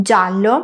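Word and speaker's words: giallo: Para hacer el sonido ya, escribimos g + i + a. Como ves, necesitamos la i entre la g y la a.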